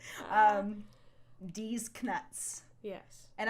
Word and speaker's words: Knuts: with right um these knuts yes and I like to pronounce the k because that's what Jim Dale does and also because it differentiates Canucks from actual nuts yes exactly yeah it